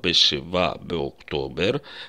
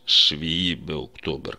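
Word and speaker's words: שבעה באוקטובר: есть название даты число мы произносим с числительном в форме мужского рода Шива октобер при этом в современном языке нормы не всегда соблюдаются и мы можем услышать шви октобер как бы 7 октября это неправильно но так многие говорят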